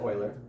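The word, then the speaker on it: Euler: Leonard Oiler. That is pronounced Oiler. Pronounced it. Everyone thinks that when they don't have a teacher to tell them. Yeah. So it is actually it said Oiler but Leonard Oiler he was the first guy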